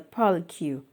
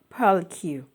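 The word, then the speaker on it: purlicue: your fourth finger is called the pearl cue pearl q pearl q poly q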